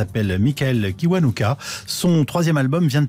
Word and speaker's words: Kiwanuka: D'ailleurs, on devrait le prononcer Kiwanuka. Avec ma famille, nous nous sommes installés en Angleterre depuis que j'ai 2 ans et là-bas, ça se prononce Kiwanuka.